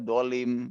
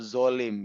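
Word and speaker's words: ظالم: Kalau dia, eee, tidak mengerti bahasa Arab apalagi, mengenai makhrajul huruf, ya dia bacanya dolim pasti gitu ya, atau zolim, ini sangat zolim sekali. Padahal ini 2 makhraj yang berbeda dan zo itu berdiri di mana, dilihat ini, di lisan itu ujung gigi itu kan ya, ada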